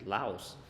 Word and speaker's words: Laos: า อ อ ก เ สี ย ง Laos น ะ ป ร ะ เ ท ศ